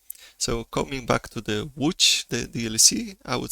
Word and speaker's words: Łódź: for the English-speaking listeners would be to start with the word would, and just instead of D at the end, I would add DGE. So Łódź should be probably the closest to the Polish pronunciation.